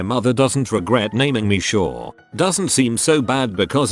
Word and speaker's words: Shaw: For example, if I introduce myself to someone, I have to clarify that my name isn't actually Shawn.